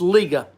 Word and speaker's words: Liga Privada: to pronounce it out liga provada flying pig liga pravada flying pig i say ligger he's saying it's liga liga privada liga privata your